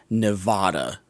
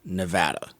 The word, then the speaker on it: Nevada: It's not Nevada. It's Nevada. Mm-hmm.